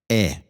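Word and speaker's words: Ä: A umlaut is pronounced like E. E. In English, it would be compared like air, like in bed, but a bit longer, right?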